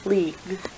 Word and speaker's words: league: League I notice that it ends in a GU u e just like with tongue we don't actually say U or E afterwards when we say leag the final word we'll